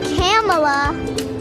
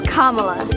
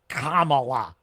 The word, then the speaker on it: Kamala: with some help from some friends it's not camela it's not Cala who is it that uses